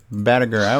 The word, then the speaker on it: Batteiger: All right, now, so, it's Batteiger, did I say it right? Batteiger. Okay, I was warm.